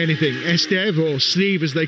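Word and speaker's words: Estève: Estev being the proper pronunciation, of course, but Steve will do.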